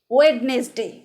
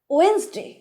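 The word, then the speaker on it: Wednesday: Next, আমরা বলি ওয়েডনেসডে। 7টা দিন 7টা নামে বলে থাকি। একটা হচ্ছে সানডে, মানডে, ওয়েডনেসডে বলি। এই যে ওয়েডনেসডে বলি, এটা কিন্তু সঠিক উচ্চারণ নয়। সঠিক উচ্চারণ কোনটা? ওয়েন্সডে।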